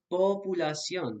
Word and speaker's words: populación: in English, pop, but it's pronounced populación because the O will always say O in Spanish, always. Populación, not populación, as an English speaker might understandably try to pronounce it.